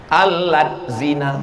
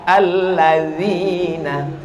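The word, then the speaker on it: الذين: Alat zina. Loh, kok menjadi alat zina? D sama Z itu bacanya la. Allazina.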